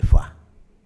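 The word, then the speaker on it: Foix: marido El conde de foa nuestro maestro Faustino nos decía no se dice foa se dice F porque foa es un en aquella época en este zona no se hablaba francés se decía fois bueno fo fo es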